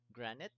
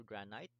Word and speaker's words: granite: Okay, so these silicate rocks are primarily two kinds: granite or granite, and basalt or basalt. Basalt. I think both four pronunciations are correct.